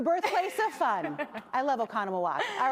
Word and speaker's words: Oconomowoc: So what do you think, or how to pronounce this one? This is Oconomowoc.